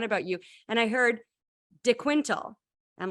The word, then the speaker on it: De Quintal: I'm absolutely right um so typically I'm just yeah I'm Constable to Quinto uh it just it's easier for people to pronounce and stuff um but yeah that's the Portuguese way and like the proper way I guess saying my